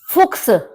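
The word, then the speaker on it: Fuchs: फुक्स फुक्स फॉक्स लोमड़ी देखिए यह बात आपको पहले भी बताई गई थी कि ए ओ यू वॉवेल के बाद यदि सी एच आता है तो उसको हम खा की तरह प्रोनाउंस करते हैं तो इसलिए आप देखेंगे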